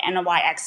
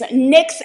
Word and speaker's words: NYX: the brand NYX NYX you can call it NYX if you want to the pronunciation is NYX and it is fantastic it is a fantastic